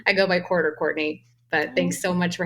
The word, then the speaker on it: Courtenay: today I am talking with court court Courtney welcome to the show you can call me